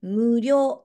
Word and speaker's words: 無料: ないですよはい料金がないと書いて無料と読みますこの反対は有料